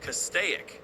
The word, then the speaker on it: Castaic: There we go. Castaic. Like stoic.